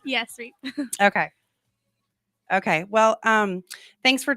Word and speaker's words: Reep: Is it pronounced Reep? Yes, Reep.